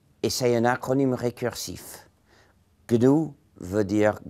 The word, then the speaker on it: GNU: il est toujours Gou donc il faut le dire Gou il y a une